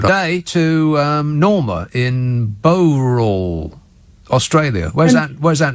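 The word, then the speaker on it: Bowral: to um norma in bow roll australia where's that where's that norma it's about 90 kilometers from sydney and it's pronounced barrel is in barrel no i don't think so yes it is yes yes it is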